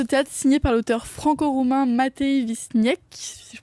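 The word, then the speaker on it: Matei Vișniec: La pièce de théâtre signée par l'auteur franco-roumain Matei Visniec, si je prononce bien. Oui, Matei Visniec.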